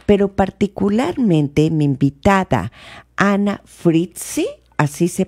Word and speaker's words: Frietze: Pero particularmente mi invitada, Ana Fritzi, ¿así se pronuncia?